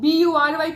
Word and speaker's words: bury: B-U-R-Y को क्या बोलते हैं? bury. I know you है वहां पर, तो bury बोलना होता या बुरी होता, but then we pronounce it as bury.